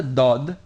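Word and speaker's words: ض: position you would use to pronounce the Dal but move it back a little bit so it gives a more resonating and a bit more emphatic sound remember that the Dodd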